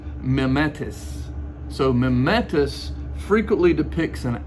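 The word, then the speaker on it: μιμηταί: a word there um and that word is pronounced mimetis so mementos frequently depicts an actor that's playing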